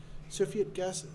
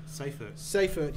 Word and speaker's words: Seyfert: Cepheid galaxy? I don't know, Matt. Oh, Sorry, I take photos of these things, and I enjoy the photos. So. Sorry, guys, I didn't have a chance to check the pronunciation of that one. Seyfert, yes, sorry.